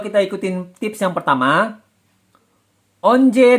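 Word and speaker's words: 언제: Jadi kalau kita ikutin tips yang pertama, onje dan once, mana lebih mudah pelafalannya? Onje atau once? Ya pasti onje. Onje yang paling mudah dilafalkan. Onje. Yang pasti yang mudah pelafalannya adalah onje.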